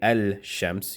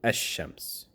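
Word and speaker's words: الشمس: You wouldn't say al-shams, you would say ash-shams.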